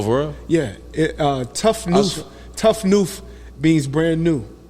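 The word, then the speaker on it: tout neuf: know that oh for real yeah it uh tough new tough new means brand new in in in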